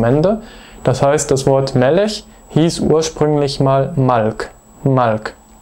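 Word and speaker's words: מֶלֶךְ: Zum Beispiel das bekannte Wort Melech, König. Hier ist die Betonung auf der ersten Silbe, Melech, nicht Melech, sondern Melech.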